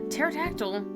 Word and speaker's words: pterodactyl: pterodactyl bro the pterodactyl the P oh dudes I was about to say it wrong pterodactyl you suppose pigs are